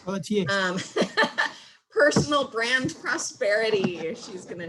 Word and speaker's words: Pelletier: I think she pronounces it with the T, but it's a French word as far as I'm concerned. Pelletier.